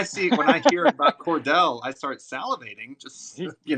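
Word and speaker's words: Cordele: a city in georgia we say cordial no we say cordell but it's spelled with one l c-o-r-d-e-l-e spell kind of weird and it's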